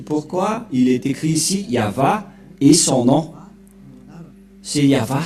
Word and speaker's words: Yahva: C'est pourquoi il est écrit ici Yahva et son nom.